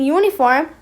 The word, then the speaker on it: uniform: But here in uniform the u didn't sound like uh it sounded like u. So if it sounds like u then it's a consonant sound.